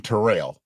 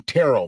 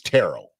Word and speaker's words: Terrell: Terrell Owens up by by the end of this I'll probably be calling him ter rail because I tend to call people by their name wrongfully when I'm being disrespectful but I'm gonna call him Terrell from the beginning because his name is Terell Terell Owens and I decided to